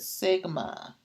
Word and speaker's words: sigma: So now what I want to do is this symbol, I want to explain, here's how you pronounce it, sigma.